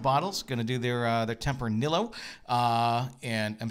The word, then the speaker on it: Tempranillo: And the guide told us Tempranillo. Like Amarillo.